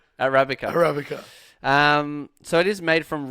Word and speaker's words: Arabica: It's Arabica. Arabica.